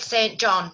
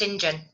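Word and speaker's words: St John: your name they said it's spelt saint john but it's sinjin i've never heard that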